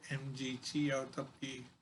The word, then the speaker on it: MGTOW: And MGTOW is the way I pronounce MGTOW, men going their own way.